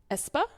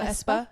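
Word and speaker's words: aespa: you've heard of them it's espa mhm mhm is that how you say it yeah I think so espa a p a right yes correct so espa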